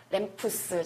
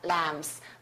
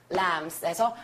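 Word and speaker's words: lamps: 떼거지로 나와요 그랬을 때 요거 발음 어떻게 할까요 램프스 절대 하시면 안 됩니다 램스 램스에서 소리 꼭 챙겨 놓으시고 표현 꼭 외우시고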